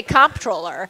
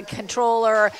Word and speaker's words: comptroller: Well, it's funny, too, because in Maryland, we say comptroller. Right. And lots of other places, they say controller.